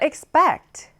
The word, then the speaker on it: expect: 자, expect 뒷부분에 강세를 강하게 주시면 되고요.